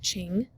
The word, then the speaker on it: Qing: They established a new dynasty, pronounced Qing, which means pure.